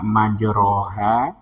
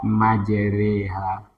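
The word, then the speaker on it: مجريها: Rya dipepet jadi e Jadi tidak kita baca majroha tapi kita baca majreha Ya itu imalah hukum bacaan Taj ya cuman ada satu ya di sini aja ya Im jadi bacanya majreha tidak majroha ya kita ulang ya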